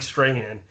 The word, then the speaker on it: Strahan: is mike strahan uh mike strange i always butchered his last name mike strahan oh yeah cool just